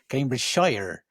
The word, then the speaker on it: Cambridgeshire: Then maybe to finalize the interview, how easy accessible is Cambridgeshire, if I could pronounce that correctly? He even said it with a bit of a twang as well, which I enjoyed. Cambridgeshire.